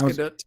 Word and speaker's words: Gadot: I totally get it because it's hard to pronounce. But yeah, my name is Gal Gadot. She did say it. Gadot. It's Gadot.